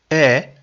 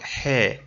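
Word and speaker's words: heir: So the word is not hair. If it was hair, then we would say a hair, a hair. But the H is silent.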